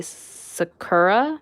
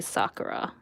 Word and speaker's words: Sakura: think growing up it the english dub would say sakura but it's actually sakura i think it's the proper pronunciation but yes sakura i